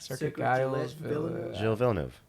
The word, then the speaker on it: Circuit Gilles Villeneuve: Circuit Gilles Villeneuve.